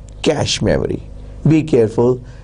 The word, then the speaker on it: cache: cache memory people used to call it as kaki memory CACI memory but now the world see a CAG has settled its pronunciation and it is called cache memory be careful it's spelling is ca CH